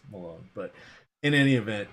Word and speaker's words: Milone: It's Milone! No, it's actually not. It's Malone.